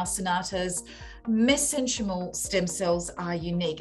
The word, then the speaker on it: mesenchymal: is and how Cynata's mesenchymal stem cells are unique? Now, I hope I pronounced that correctly. It's mesenchymal, but that's fine.